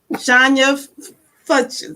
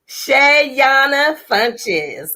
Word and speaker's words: Shayona Funches: you just told me johnya fuchsia i said it wrong right shayana funches i'm here that's okay